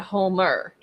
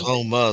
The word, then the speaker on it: Houma: Well, there's a Houma, and then there's a Homer. Well, this is Houma.